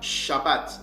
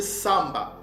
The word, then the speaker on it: Shabbat: Ce mot-là ne se prononce pas Shabbat. Nos pères ne l'ont jamais prononcé de cette façon-là, de cette manière-là. Mais nos pères le prononçaient Samba.